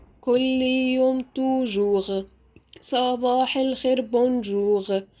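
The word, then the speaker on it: bonjour: يوم توجوغ صباح الخير بونجوغ يبقى انا نطقت الار غ جوغ توجوغ بونجوغ طيب ده بخصوص الار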